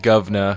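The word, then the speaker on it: guv'nor: And do you see, I just did a little bit of a British accent there, Ben, when I said governor, because that's how it's spelled, G-U-V N-O-R.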